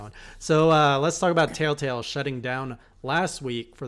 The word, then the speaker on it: Telltale: fatigue hell telltale everyone people are saying you say it wrong and you do you say tail tail tail tail tail tail tail tail tell-tale yay I know you have